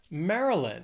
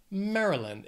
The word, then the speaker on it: Maryland: let's just keep going Maryland this state has three syllables the stress is on that first syllable Maryland it's not Mary you don't really hear that why it's just Maryland also think of food